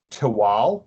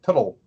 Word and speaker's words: Tehuatl: So most people see the TL and they go Tuttle, and it's just like a longer L. So it's spelled, but it's like a little sound, not like a Tuttle.